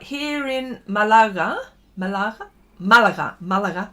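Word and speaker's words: Málaga: in Malaga Malaga Malaga Malaga sorry the accent is on the first a um here in Malanga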